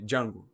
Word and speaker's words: Django: Ele, Django. Mas o D é mudo.